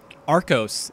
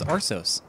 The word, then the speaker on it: Arsos: saw what you did with Arcos the other day, and they'll be like, what the fuck? Their name's Arsos. And then you just like,